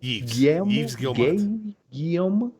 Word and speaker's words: Yves Guillemot: Yves Guillemot? I asked Rico before we filmed. He said it's pronounced Yves Guillemot.